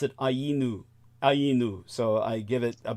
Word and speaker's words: Ainu: They've got a name that sounds distressingly similar to anus when mispronounced.